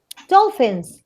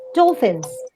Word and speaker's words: dolphins: and all things what how is it said dolphins with a f sound okay dolphins dolphins yes say it